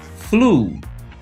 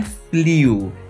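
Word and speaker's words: flew: no passado repeat Flu Flu não é fliu é Flu a pronúncia correta do verbo Fly no passado esses dois exemplos que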